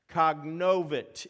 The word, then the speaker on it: cognovit: Cognovit is how that first word is pronounced.